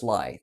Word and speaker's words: Lai: Lai is how it's pronounced. It's Lai. Thank you, Lai. Lai. But most pronounce it wrong.